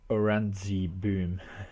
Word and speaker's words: Oranjeboom: Yeah, the combination N and J must be problematic. Also the way we pronounce our G's I find that many people have a problem with the hard G as we pronounce it.